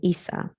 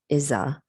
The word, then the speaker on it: Issa: not pronounced eva and issa i decided against isa because i was afraid that americans who don't speak spanish might pronounce her middle name as isa instead of issa so my daughter's name